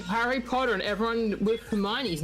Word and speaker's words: Hermione: Harry Potter and everyone with Hermione's name. How would you... Wait, but how would you pronounce that any other way?